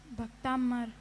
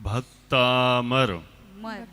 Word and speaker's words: भक्तामर: भक्तांबर के पहले छंद में बर की मर भक्तांबर ठीक है हां भक्तामर है ना हां ये उच्चारण भी बराबर करना है ठीक है भक्तांबर के